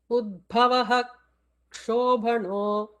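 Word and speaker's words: उद्भवः क्षोभणः: In the case of the letter ksha, if a visarga is preceding ksha, the visarga has to be fully pronounced, not to be left out. So here the chant would be Udbhavaha Kshobhano. That's how full visarga has to be chanted.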